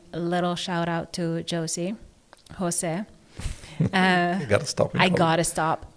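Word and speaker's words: José: shout out to Josie Jose. Uh you got to stop. I got to stop. Thing is that like Jose is spelled J O S E, right? So it's not even dosy but somehow every single time I talk about Exactly.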